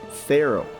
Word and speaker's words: Pharaoh: Now pay attention to the pronunciation of this word. It's Pharaoh.